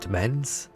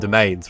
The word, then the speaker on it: Domains: also like Downtime and is it Demens? I always say it wrong. Downtime and Domains, right?